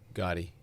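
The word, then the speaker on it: Gati: Gotti.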